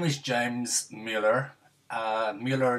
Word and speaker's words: Mueller: Mueller is actually pronounced Miller.